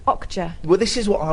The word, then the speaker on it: Okja: Yeah, I thought it was called OK Yeah, but it's Okja.